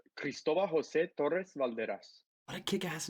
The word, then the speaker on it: Cristobal Jose Torres-Valderas: Say your full name for us, because it's just I'm gonna give you the very Hispanic way. It's Cristobal Jose Torres-Valderas.